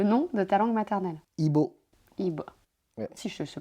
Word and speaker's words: Ibo: Ibo. Ibo. Ouais. Si je sais prononcer, en fait, ça va, Ibo.